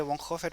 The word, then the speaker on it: Bonhoeffer: Se escribe Bonhoeffer, pero dicen que se lee Bonhoeffer.